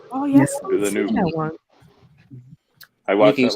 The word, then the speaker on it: Villeneuve: Villeneuve. How do you say his last name? Villeneuve. Oh yes, Villeneuve.